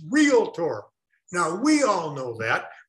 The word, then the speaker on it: realtor: mispronounced not the most it's the second most mispronounced the first leads by a mile what is it realtor the word is not realtor it's realtor now we all know that but how many